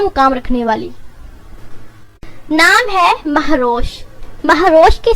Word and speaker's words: مہروش: اور ایک اعلیٰ مقام رکھنے والی۔ نام ہے مہروش۔ مہروش کی سپیلنگ ہے MAHROSH اور اس کے معنی ہے